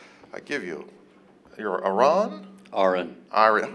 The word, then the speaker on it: Aron: Aron. Aron. How do I can, Aron is like it's spelled like Aaron, but pronounced like registered nurse.